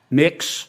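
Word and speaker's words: Mx: Cameron tell me what you're you're proposing it's pronounced next um mix is that how you how would you like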